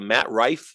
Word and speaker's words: Matt Rife: Is it Matt Rife? Is that how you pronounce his name?